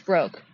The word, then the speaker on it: Broke: Uh, I pronounce it as broke. Wait, Brandy Bro. Yeah, broke or brooke. No, it's broke.